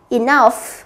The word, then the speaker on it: enough: Câu C, enough, 2.